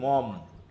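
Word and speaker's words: Maugham: মম। হ্যা বানানের ক্ষেত্রে হবে মোঘাম নাকি? আর উচ্চারণ করবা কি? মম।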